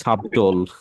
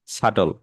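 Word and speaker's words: subtle: হ্যাঁ, তো এখানে শাটল, শাটল বানানটা দেখেন আমরা আগে পড়তাম কি সাবটোল। সাবটোল, তাহলে কি সাবটোল হবে? শাটল।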